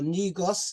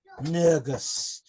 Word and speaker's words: Negus: He's at the title Tafari right up to coronation day, because we know him as Nugus or Negus in English, but the Ethiopian pronunciation is actually Nugus.